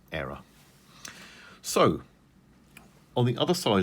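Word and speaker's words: Éire: I think it's pronounced Era.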